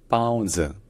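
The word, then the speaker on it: 包子: Donc en chinois mandarin à l'origine ça se dit pao zi, pao zi. Alors la première syllabe, le premier caractère, donc c'est en fait la première consonne, c'est plus proche d'un P que d'un B.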